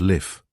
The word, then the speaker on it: Leaf: "You left Rome yesterday," he said, "and your name is Leaf." He pronounced it Liff.